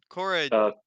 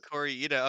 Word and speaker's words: Kore-eda: And yeah, we wa we watched a movie called Monster which came out in 2023 by Hiro Kosu Cora, I think is Corya.